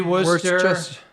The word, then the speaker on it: Worcester: You pronounce Worcester. W you say Worester, you say Quinzy without blink, you know, without blinking.